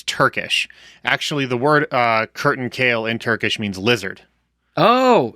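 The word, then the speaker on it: kertenkele: But like I think I think in Turkish it's Kurtankale. Okay, okay. Is is how you say lizard.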